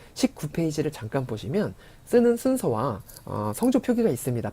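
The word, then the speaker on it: ศูนย์: 네, 19페이지를 잠깐 보시면 쓰는 순서와 성조 표기가 있습니다.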